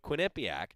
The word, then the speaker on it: Quinnipiac: ducks are in the final evening match-up with quinnipiac did i say that right i always get